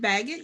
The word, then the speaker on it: Baggett: No, it's Baggett. You're right.